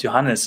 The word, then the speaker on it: Johannes: So in German, the J is pronounced as Y. As Y would be pronounced in English.